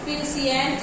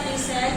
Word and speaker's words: puissant: PUISSANT, प्यूसिएंट इसको पढ़ सकते हैं या प्यूसेंट भी पढ़ सकते हैं।